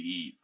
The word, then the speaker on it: Eve: Eva is how Wally calls Eve, but it's actually Eve.